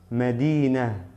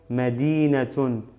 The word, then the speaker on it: مدينة: Medina, Medina. Si pronuncio doble damma sería Medinatun. ¿Por qué digo solamente Medina y no Medinatun? Por el paro que tengo aquí, por la pausa.